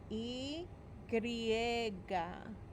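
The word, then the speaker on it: y griega: talk more about that the letter y is pronounced e griega letter y is pronounced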